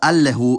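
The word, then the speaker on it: አለሁ: And finally, the first person singular suffix is spelled allehu, but these days it's pretty much always pronounced allo, so that's how I wrote it in IPA.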